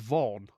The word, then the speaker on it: Vaughn: Pronounced Vaughn.